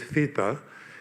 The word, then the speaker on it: theta: This theta is the initial letter does not exist in Latin alphabets or in your alphabets certainly it's th pronounced th together theta I think Spanish people